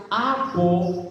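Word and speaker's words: ἀπό: diferencia de los otros, usa una preposición griega que se pronuncia apo, y esta preposición griega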